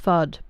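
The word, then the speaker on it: FUUD: So, it's pronounced fud, but it's spelled with two U's instead of two D's, Sneaky.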